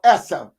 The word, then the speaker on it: ESSA: just joined us um we're talking about essa or issa however you decide to um pronounce it but it's called um